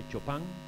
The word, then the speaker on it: Chopin: de era federico y algunos le dicen chopin lo pronuncia tenemos que hecho pan era un hombre polaco